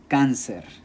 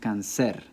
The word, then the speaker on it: cáncer: So if that's the case, it should be pronounced cáncer. Cáncer. But that's not how we're pronouncing it. The word is pronounced cáncer after the English, cancer. And so we need an accent mark because it's an unnatural stress.